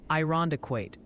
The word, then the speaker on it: Irondequoit: Oh, and the pronunciation posse sends its regards. Multiple viewers are suggesting it's Cadiz, Ohio, and Irondequoit in New York.